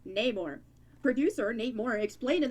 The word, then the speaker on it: Namor: Actor Tenoch Huerta pronounces the words Namor. Oh, Namor instead of Namor? Instead of how it's tradition.